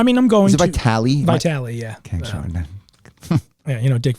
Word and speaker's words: Vitale: Is it Vitale? Vitale, yeah. Okay, yeah, Dick Vitale caught a lot over the years for not pronouncing that.